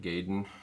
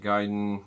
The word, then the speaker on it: Gaiden: game series ninja gaiden some of us called it gaydon until we learned the proper japanese pronunciation um ninja gaiden gaiden meaning dragon i